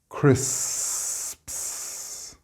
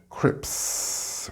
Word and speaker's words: crisps: and open them to continue pushing the air through for the S sound again. Crisps, wasps. Now, I hope you didn't get crips, which is what the young children sometimes say when learning to speak.